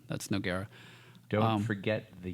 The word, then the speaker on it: Noguera: I don't have to tell you, but for other people, the U is there to show that the G is a hard G.